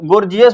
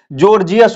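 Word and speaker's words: Gorgias: बहुत सारे लोग गोर्जियस भी पढ़ सकते हैं, पर इसका उच्चारण जो होता है जॉर्जियस होता है, इसलिए आपको इसको जॉर्जियस बोलना है।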